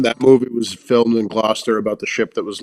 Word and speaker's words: Gloucester: t e i GL I was gonna say there was an r in there but you couldn't hear him pronounce it yeah and I could